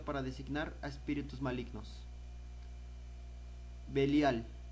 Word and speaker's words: Belial: Designar a espíritus malignos belial o también pronunciado como beliar de la raíz bal